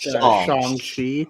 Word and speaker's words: Shang-Chi: It's pronounced Shang-Chi.